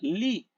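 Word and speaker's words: לי: yud lamet yud y se pronuncia Li Li significa mi ahora lamet vale 40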